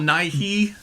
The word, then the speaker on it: Nighy: he's talking about Bill Nighy. Right. But yeah, but it's pronounced Nye.